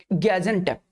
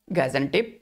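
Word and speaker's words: Gaziantep: ठीक है, गैजेंटेप। ठीक है, अलग अलग प्रोनाउंसिएशन करते हैं लेकिन गैजेंटेप करके इसका नाम बहुत बारी आपको डिक्शनरी में दिख जाएगा।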